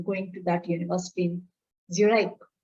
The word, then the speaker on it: Zurich: in zurich now said u r i c h zurich is the english pronunciation in german it is